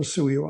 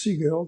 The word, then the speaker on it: Sigel: And I could pronounce it Sigel or Suyo. I'm going to use Sigel. That's just the one that I prefer.